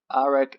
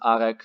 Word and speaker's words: Arek: in 2014 through 2016, his first name was always pronounced Arek, so only Arek.